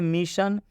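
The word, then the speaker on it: mission: से किया गया है यहां पर भी देख सकते हैं मिशन मिशन में भी ओ के बाद से एन आया हुआ है इसलिए इस ओ का उच्चारण अ की मात्रा से किया जा रहा है इसमें अ आ रहा है मिशन न जब हम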